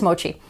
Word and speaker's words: mochi: Oh, or is it mochi? I'm pretty sure it's mochi. That's how I always hear it pronounced.